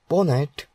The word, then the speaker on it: PWNAT: PWN pronounced as ponet is a tool that